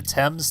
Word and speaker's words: Thames: a sewer level, the Thames Tunnel. That's how that word is pronounced, by the way. British pronunciation can be odd sometimes.